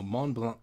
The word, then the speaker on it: Mont Blanc: yep block cricket no mon blanc dude it's french you don't pronounce it c mont blanc monk block it's a silent c probably just fake front